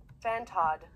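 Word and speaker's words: Fantod: a doctorate degree um phantom fantad or make sure i'm saying this right give me your pronunciation pronunciation fan todd fan todd the fan todd deck all right by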